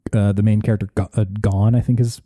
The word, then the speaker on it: Gon: The main thrust at the beginning is like the main character Gon, I think is how you say it. It's just Gon.